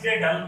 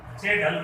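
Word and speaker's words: Kjeldahl: The first one is Dumas method, and the second one is J-Dull method. Jagel method. K is silent here.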